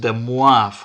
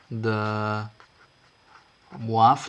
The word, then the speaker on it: de Moivre: uh it's written de moivres but it's actually pronounced the muaf uh the waff that's how we pronounce this uh this last